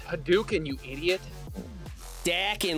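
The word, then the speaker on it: Hadouken: whatever uh hoken that's that's the best one hoken it's haduken you idiot daking like you're from Boston you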